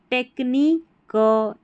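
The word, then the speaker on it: technique: ये जो है ना क्यू यू ई स्पेलिंग के आखिर में आएगा। इसको क कर करके पढ़ना है। जैसे यूनिक क्यू यू ई है ना टेक्ननी क एंटी क बटी क ऐसे क्यू यू ई आखिर में आ जाएगा किसी भी स्पेलिंग में। इसको आप क पढ़ देना है।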